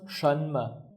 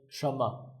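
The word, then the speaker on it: 什么: So together it becomes shma. But in conversation they say shama. So instead of saying we just say shama let's write together one.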